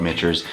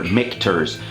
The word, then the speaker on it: Michter's: what it is but it is pronounced mick like mick jagger mcterz all right so this